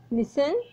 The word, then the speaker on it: listen: इसमें T silent होता है, टी का कोई भी साउंड नहीं होती।